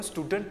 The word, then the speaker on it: student: අපි ඔය දෙකම student කිය stress කරන්නේ නැහැ. එකයි stress කරන්නේ. noun එකක්. මේක noun එකක් නිසා first syllable එකද syllables දෙකක් තියෙනකොට පළවෙනි එක stress කරන්න.